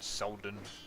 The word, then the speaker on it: Selden: Kennard Selden. Kind of rhymes with young Sheldon.